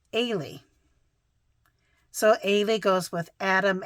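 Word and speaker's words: Eilidh: it EI l i d h but it's pronounced ay so ay goes with Adam astred Amber Arnold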